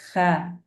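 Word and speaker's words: خ: are pronounced lightly, like kha, gha. And it's not light, it's more heavy. You have to raise the back of your tongue.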